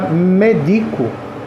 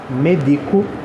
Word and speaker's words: medico: antepenúltima tem assim já medico medico tipo assim eu medico você eu lhe dou remédio a sílaba tônica é o d Então ela é uma paroxitona é a mesmo o